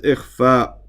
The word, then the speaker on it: إخفاء: It says إخفاء. It should be a, for some reason I'm writing bad today, but I'm pronouncing it correctly, hopefully. إخفاء, not with a dhamma there.